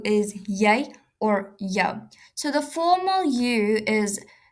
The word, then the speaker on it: jy: Remember, J is pronounced as a y in Afrikaans. Jy and then yo.